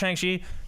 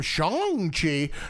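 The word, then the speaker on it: Shang-Chi: saying it wrong no they pronounced it and that's how it's always been pronounced as far as i can remember and then they called him shang chi i was like man we all have we all been saying it wrong for so long no you know what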